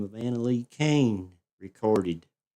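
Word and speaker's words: Koehn: If if you'd like to check her out, her name is Anna Lee Kain and the cane is spelled K O E H N.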